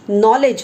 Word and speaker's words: knowledge: See, this K is silent over here. You don't pronounce this K. You pronounce knowledge, not college.